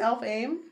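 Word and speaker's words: Elfhame: h no you didn't the H is silent it sounds like an F I thought wait what isn't it elf aim elfh elf aim elf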